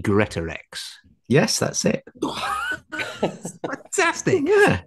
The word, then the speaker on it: Greatorex: And it's got to be Greatorex.